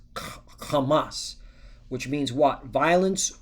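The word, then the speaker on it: חמס: So it's it's pronounced kamas which means what?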